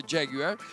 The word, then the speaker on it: Jaguar: cappellini Il Brand manager Jaguar con la pronuncia proprio inglese Jaguar che mi dà qualche